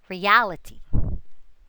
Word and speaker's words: reality: Now, let's have the suffix ity. The accent falls always on the syllable just ahead of it. Again, the accent falls always on the syllable just ahead of it. Reality, reality.